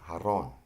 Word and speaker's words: jarrón: The J is pronounced like the H in English. An example is jarrón, which is vase.